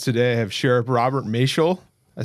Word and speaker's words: Maciol: Today I have Sheriff Robert Mel. I said it right. You got it. Mel rhymes with facial.